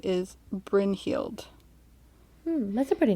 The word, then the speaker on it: Brynhild: story a little bit and her name is bryn heeld hmm that's a pretty name yeah brynn for